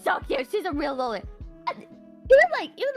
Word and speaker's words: loli: No, and by the way, I pronounce it loli, like Lolita, which is the fucking book that the term originates from, alright? And anybody who says fucking lolly, you know, like Dizzy